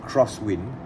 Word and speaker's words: X-Wind: aviation x wing or i think the correct way to pronounce it is crosswind autochrono a reference number